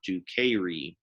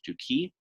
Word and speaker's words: duci: It's not duceri. It's just duki.